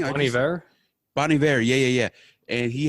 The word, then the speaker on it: Bon Iver: Bon Iver?